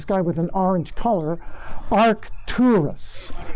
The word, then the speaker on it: Arcturus: with an orange color arcturus arc two are two rus it's spelled arc a-r-c